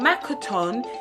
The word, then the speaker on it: Makaton: Makaton is spelt M-A-K-A-T-O-N. Makaton.